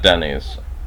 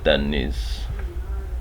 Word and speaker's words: Dennys: And you note that the S is pronounced with more oomph than the it would be in, let's say, an American English speaker saying the word Dennys, or like Dennys.